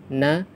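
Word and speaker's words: نون: Untuk membaca huruf-huruf muqatta'at ini, kita membacanya sesuai dengan nama hurufnya, seperti huruf nun, dibaca 'nun' karena namanya adalah nun; Huruf shad dibaca sesuai dengan namanya 'shad'; Huruf kaf juga dibaca sesuai namanya 'kaf', seperti itu.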